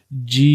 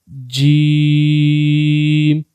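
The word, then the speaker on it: ج: So try to pronounce and say Jeem, Jeem, Sheen, Sheen, and the last one is Ja, Ja.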